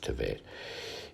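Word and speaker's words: Tevet: So Esther was taken unto King Ahasuerus into the house royal in the 10th month, which is the month Tivet, it's all pronounced Tivet, in the 7th year of his reign.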